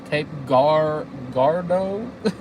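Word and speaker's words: Cape Girardeau: Cape Gardo.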